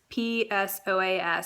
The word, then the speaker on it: psoas: So you have a muscle in your core called the psoas, and that's psoas. So it starts with a P. The P is silent.